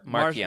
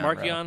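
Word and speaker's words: Marchion: I give it the hard C, but whatever. Markion. Marcion.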